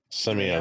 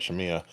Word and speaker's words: Simia: Simia, thank you. I keep wanting to call it Shamia.